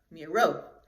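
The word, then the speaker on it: Miró: And his last name is Miro with an accent on the O. So that means that's like a long O and very sharp. Miro.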